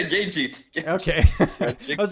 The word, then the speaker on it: Gaethje: Justin Grajic. I Oh, don't know. How to say it. you mean Justin Gaethje? Yeah, Gagey.